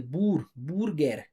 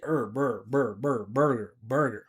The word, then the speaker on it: burger: A lot of people say burger. But we just say burger, like that.